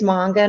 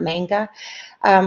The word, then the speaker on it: manga: out on it if you do it is manga not manga these are originally published in Japan read right